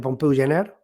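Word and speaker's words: Pompeu Gener: por ejemplo de pompeu de pompeu jener se pronuncia así no si usted s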